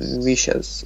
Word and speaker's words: vicious: see this mhm okay it's vious a short e yes and because of the fact that this tress is on the first syllable V it cannot be V you know it's the stress is on the first syllable and the uh let's say second syllable has a shua as you can see here in this transcription okay uh wishes means evil